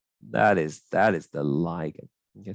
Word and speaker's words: ligand: is that is the ligand okay some people pronounce it looking doesn't really matter same thing we good